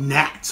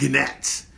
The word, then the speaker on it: gnats: how to spell it because it's not na T it's G and a T so we mean my cousin used called nets but they're called gnats they're called gnats we